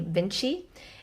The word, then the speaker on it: VNCCII: I am the founder of my company Vinci. It's spelled v n c c i i.